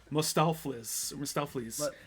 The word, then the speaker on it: Mustaflis: I keep adding extra syllables to his name, Mustaflis, not Mr. Mephistopheles or whatever I'm saying.